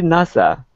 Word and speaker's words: NASA: Only NASA pronounced like a word.